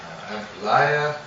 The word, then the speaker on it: ampalaya: We have got some fried and sauteed ampalaya. I say ampalaya, but it's say Ampalaya. Ampalaya. Oh, I said it right.